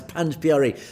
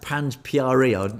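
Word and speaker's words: Panj Pyare: Yes, in Panj Pyari, that's how to pronounce Panj Pyari, this concept that dates back to the original Khalsa from the last living guru. It is pronounced Panj Pyari.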